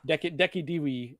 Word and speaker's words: Decidueye: Deki Dewey is what I've heard people pronounce it as. Wow. It's like a U pronunciation.